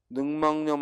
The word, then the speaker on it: 늑막염: 다음 폐렴 할 때는 렴으로 읽는데 늑막염 할 때는 염으로 쓰죠. 폐렴이나 늑막염, 늑막염이 아니라 뭐야? 늑막염. 역시 니은 첨가가 일어나서 늑막염.